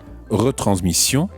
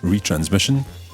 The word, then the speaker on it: retransmission: Try to stick to the French pronunciation and say exposition and not exposition, retransmission and not retransmission, and animation and not animation.